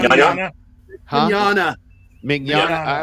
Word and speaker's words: Mignogna: Mignogna? Huh? Mignogna. Mignogna. Yeah. I always say Mignole. Okay, good. There's the G is silent.